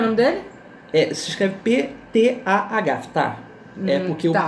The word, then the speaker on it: Ptah: Se escreve P-T-A-H, Ptah.